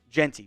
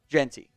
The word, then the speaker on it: Jeanty: fan fix your pronunciation it's Ashton Genty right Genty I well previous videos that wasin definitely saying gen but I think today I was saying Genty which I believe is how it is supposed to be so that that was